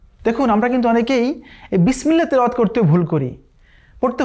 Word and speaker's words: বিসমিল্লাহ: দেখুন আমরা কিন্তু অনেকেই এই বিসমিল্লাহ তেলাওয়াত করতে ভুল করি। পড়তে হবে বিসমিল্লাহির রহমানির রহিম। এই যে বিসমিল্লাহ, অনেকে আমরা কিন্তু পড়ি বিসমিল্লাহ, বিসমিল্লাহ, নো, বিস বিস, এই সিনের সাথে সাথে একটা আওয়াজ বের হবে।